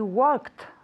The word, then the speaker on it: worked: good be like she worked for that company last year very good she worked for that company last year at home worked you have to force yourself to say work work with a t worked tell me worked